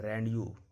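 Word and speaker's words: rendezvous: एक मात्र वर्ड है जिसमें जेड साइलेंट होता है, इसको पता है रैंडयू। रैंडयू एक मात्र वर्ड है जिसमें जेड साइलेंट होता है।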